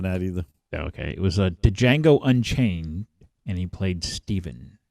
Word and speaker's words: Django: It was Django Unchained, and he played Steven. It's Django. The D is silent.